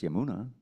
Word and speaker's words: Yamuna: thinking Yar y yeah but everyone knows it's yamuna the yamuna river and that's how you're all